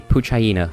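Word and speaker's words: Poochyena: n indeed uh po I always pronounced it pooa but it's probably poo hyena cuz it's a pooch hyena that's probably the joke but I always pronounced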